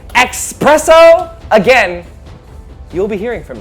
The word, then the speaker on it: espresso: Espresso, the elixir of life.